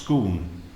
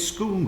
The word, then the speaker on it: Scone: scone very good Roger except it's pronounced scoon but sir it says scone here you could pronounce it scon if you're Posh you're not Posh are you sir it's scoon Roger it rhms with spoon let's go again from